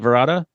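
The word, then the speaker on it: Varada: Verda. Var. It's Vard. I think you basically don't pronounce the second A or just say V because apparently she goes by V as well.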